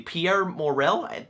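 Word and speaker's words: Pierre Morel: the guy who directed the first taken movie pierre morrell i think that's how you say his name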